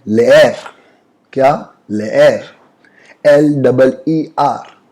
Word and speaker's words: leer: English में LEER को हम लोग लीर पढ़ते हैं, लेकिन स्पेनिश में ऐसा नहीं होता। इसका प्रोनाउंसिएशन कैसा है? ले एर, LE मतलब ले और ER मतलब एर, तो लेयर।